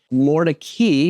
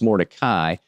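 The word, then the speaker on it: Mordecai: As I mentioned earlier, Mori, which looks like, it should be pronounced Morai, but another historic district, quirky character homes, local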